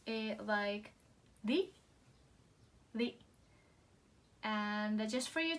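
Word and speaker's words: り: video, they were like in textbooks they will probably like say the sound is like with R, but we actually pronounce like L.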